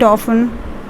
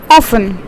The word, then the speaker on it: often: So we pronounce this as often. We don't say it as often. Sometimes people do say it as often, but mostly the term often is pronounced. So it's often, right?